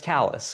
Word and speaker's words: Kallas: My name is spelled uh spelled like but pronounced and then my last name is like Dallas but it starts with a K.